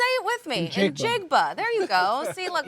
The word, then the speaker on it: Njigba: I'm not going to try to pronounce the last name. I've botched it a million times in morning TV. Njigba. Say it with me. Njigba.